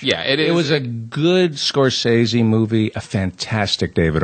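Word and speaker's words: Scorsese: long and here's the thing about scorsi it's pronounced scorsi here's the other thing about scor scores his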